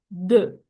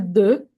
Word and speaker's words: the: Puedes pronunciarlo de. Okay. Esta palabra puede ser puede tener dos pronunciaciones. Este sigo puedo decir de o puedo decir di.